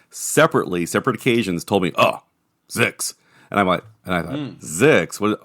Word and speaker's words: ZYX: Both of them separate occasions told me, "Oh, Zix." And I thought, Zix? What? And then I go, oh, ZYX is pronounced Zix.